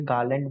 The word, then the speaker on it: Garland: तो वैसे इसे गार्लैंड बोलते हैं, आर इसमें साइलेंट है।